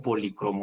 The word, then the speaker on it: policromo: La forma correcta de expresar este término es polícromo o policromo. Las dos formas son válidas, ¿no?